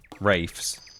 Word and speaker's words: Ralph: I wish the Ralphs and Rafes would just get together and agree. What, people with that name? There's some people who spell their name Ralph. Pronounce it... Oh, it's up there. Pronounce it Rafe.